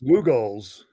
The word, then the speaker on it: Lugol's: Hey Dave, could you pronounce that second one that's not Meltzer's again? Lugol, I think Lugol. it's Lugol's.